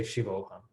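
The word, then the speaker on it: शिवोऽहम्: No, you don't say the visarga. You pronounce it as it is. So if you say shivoham and you don't write the visarga, it's still, you would say shivoham.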